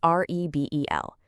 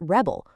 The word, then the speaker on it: rebel: If you put the stress on the first syllable, you get rebel, which is a noun. You know, like the rebels laid down their arms. But if you just shift that tiny stress mark to the second syllable, it becomes rebel, which is a verb.